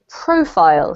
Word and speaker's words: profile: about this one here this word here is profile so the emphasis on the first one profile yep and then here